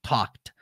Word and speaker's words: talked: Esse L do talked, você não fala, tá? Você fala talked.